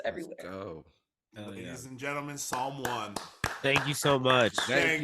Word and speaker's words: Psalm One: can find me at someone Psalm is spelled with a p p-s-a-l-m-o-n-e on X on